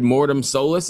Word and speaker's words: Mortem Solis: guys all I can say is new record morm soless is that how you pronounce it yes yes yeah great yeah I